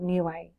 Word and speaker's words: Niue: I was born in a beautiful island called new way in I UE that's how it's spelt for those of you